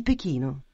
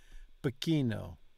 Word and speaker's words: Pechino: like the C in Pechino. False. See, this is a little more complicated. It's not the C, it's the CI. CI is pronounced CH. CE is pronounced CH. CHI is pronounced KI.